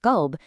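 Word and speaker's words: قلب: Pronouncing a heavy, deep Q sound as a lighter K sound changes the word of qalb, which means heart, into kalb, which literally means dog.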